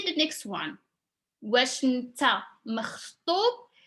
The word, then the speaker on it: مخطوب: واش انت مخطوب. It's like a little bit hard for pronunciation, is the خ sound.